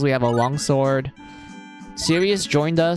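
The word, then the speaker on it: Cyuss: nice to meet you Sirius yes that is literally how you pronounce his name Eagle his name is literally pronounced as like serious like seriously um anyway well then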